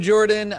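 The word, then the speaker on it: Jorphdan: I'm Jordan.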